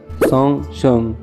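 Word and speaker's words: 送钟: En chino, decir dar un reloj se pronuncia song shong. Suena exactamente igual a asistir a un funeral.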